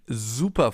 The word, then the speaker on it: super: That's why it's called Bienen S, because it's pronounced Z, as in super, for example, or sehr.